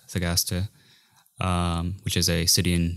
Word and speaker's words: Thagaste: He grew up in Thagaste, I think is the way it's pronounced, Thagaste, which is a city in Numidia.